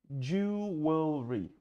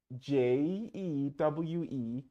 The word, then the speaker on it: jewelry: Jewelry. Украшения. Jewelry. Посмотрите, как оно пишется. Очень красиво оно пишется. И считается почти не совсем как пишется. Jewelry. Jewellery.